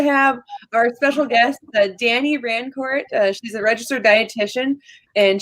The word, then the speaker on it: Rancourt: It's actually not pronounced Rancourt. Fun fact, I am French-Canadian from Ontario. So it's actually pronounced Rancourt, but people around here can't roll their R's, so I just go Rancourt, just to make it easier for everybody.